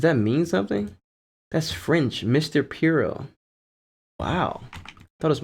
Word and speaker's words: Monsieur Pierrot: This is French, and it's pronounced Mr. Piero.